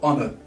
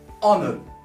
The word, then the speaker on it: honor: Let's talk about the word honor. Honor. So honor, it actually starts with O. So forget about the H.